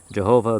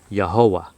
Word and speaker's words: Yahovah: And the most accurate pronunciation that I've come across, better than Jehovah, better than Yehovah, better than Yahweh, the best pronunciation is, after all of that, Yahovah.